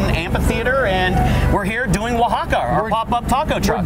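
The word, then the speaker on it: Oaxaca: So Wahaka is actually spelled O-A-X-A-C-A, but we figured we'd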